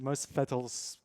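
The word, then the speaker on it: Mosfellsbær: But Kaleo's hometown is pronounced Mosfetelsberg. Okay. Yeah, with the R rolled at the end.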